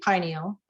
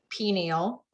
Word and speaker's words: pineal: And the association gland for the third eye is your pineal. Also, you might hear me say pineal, because I've heard them all pronounced different ways. So we'll just go with it.